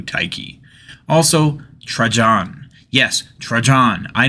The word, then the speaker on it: Tyche: It's supposed to be something like tee-hee, but that sounds like how a little girl might sneeze, so I'm sticking to Taiki.